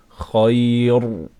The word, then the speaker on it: خير: In this scenario, we must pronounce this ra weak. We cannot say khair.